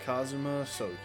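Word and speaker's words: Kazuma Asogi: It's pronounced Kazuma Soi.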